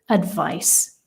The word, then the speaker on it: advise: we pronounce it advice like a Zed sound when it is the verb right so to advise and do you give advice and advice is very